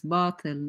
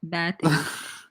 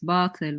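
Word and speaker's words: باطل: Yeah, by the way, it's batil, not batil. It's batil, which means falsehood, by the way. If you're going to use Arabic words, at least, learn how to pronounce them.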